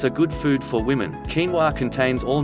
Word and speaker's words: quinoa: Quinoa. Quinoa, pronounced quinoa, is a protein-rich seed that the Incas ate to give them strength and energy.